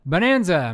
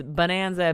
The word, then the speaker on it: Bohnanza: is it is that is it pronounced bone or is it bon no it's bone burn where's the umlaut all